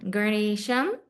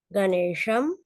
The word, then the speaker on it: Ganesha: Ganesham, Ganesham, Ganesho, Ganesho, Ganeshan, Ganeshan, Ganeshena.